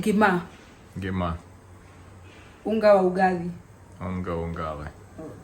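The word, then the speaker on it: ngima: Gima. Unga wa ugali. Ungali. Oh gosh, yeah. Yeah, bad pronunciation.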